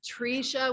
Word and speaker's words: Tresha: elementary school i'm like it's trisha with a long e and you know when